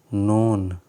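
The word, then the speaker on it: known: एन ओ डब् एन यहां पे नोन नहीं होता है के यहां पर साइलेंट होता है तो इसको पढ़ा जा आता है नोन नोन as social science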